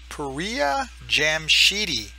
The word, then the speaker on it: Pouriya Jamshidi: I should have watched my first video, so I got the pronunciation the same way, but it's Pouriya Jamshidi.